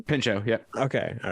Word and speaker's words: Pinchot: I also want to Bronson- clarify that is how you pronounce his last name? Pinchot, yeah. Okay. All right. in real life, No, Yeah. is it? Yeah, I Pinchot.